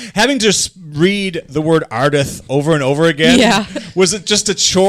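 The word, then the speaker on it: Ardith: books Casey uh our main character is named arith oh God law why barf let me spell that for you in case you at home a r d i t h arith arith i lik the name Holly if it was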